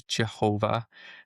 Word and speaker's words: Jehovah: We don't know the exact pronunciation. We do have our anglicized version, which is Jehovah. That's just a silly thing that I guess I don't know if I'm not taking the blame for that, but I don't know where in the ancestors they just didn't know how to pronounce the Y sound, but it's very common.